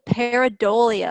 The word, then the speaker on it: pareidolia: a big word so I'm going to repeat it again so that you know how to pronounce it again that is the pareidolia effect pareidolia is when people